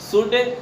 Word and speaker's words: should: शुड SHOULD, इसको शुड पढ़ेंगे। इससे में इस वर्ड में एल एक साइलेंट लेटर है।